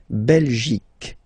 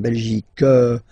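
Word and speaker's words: Belgique: okay La belic okay remember here you will get only the sound okay belic belic so it's not belgic not at all okay because it's only the belic okay Denmark so same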